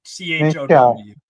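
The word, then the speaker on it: Thiaw: To pronounce his name. Milik Chow. Basically, it's CHOW. That's how you pronounce.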